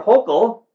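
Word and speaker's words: Hochul: had a story about Governor hokel that's how it's pronounced Brian Governor hopeful defending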